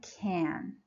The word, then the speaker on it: can: says yes I can as you see in this short positive answer can is stressed that's the only place we stress can when it is in assured positive answer number two where can I sit you can sit over there number three can I park here no you can't you can't park here so in a yes no question like the question in part three again you see that the word can is unstressed so you say can